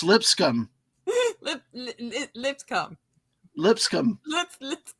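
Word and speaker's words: Lipscomb: not making it up it really is pronounced lip scum oh that's so unfortunate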